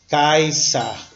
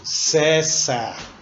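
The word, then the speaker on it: Caesar: s a é e na pronúncia restaurada ficaria kaissa na nossa província tradicional pronunciaremos cessa lembrar que a consoante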